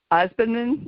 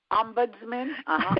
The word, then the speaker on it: ombudsman: the um how do you pronounce the word ospinant am i pronouncing that correctly ombudsman thank you thank you um it might vary